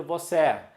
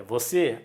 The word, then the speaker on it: você: Ninguém vai ler você. É você.